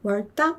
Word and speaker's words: worked up: worked up 이렇게 발음하죠.